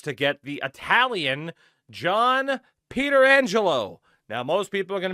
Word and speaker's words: Pietrangelo: Do your homework, because before Alex Pietrangelo, there was another Pietrangelo, Frank Pietrangelo, and that is how he pronounced it.